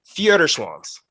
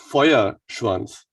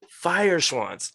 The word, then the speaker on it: Feuerschwanz: the amazing amazing van please tell me i'm going to get this right theater swans oh close ah help me out should we try again right it's fire schwarz fire swans okay foyer okay it's interesting because you know we did um we did ramstein's uh foyer fry and i thought it might be similar right yeah like how